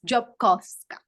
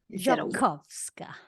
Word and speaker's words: Djiobkowska: It's still better than other people whose attempt to try and pronounce the name, but it's Djiobkowska with the V. Djiobkowska.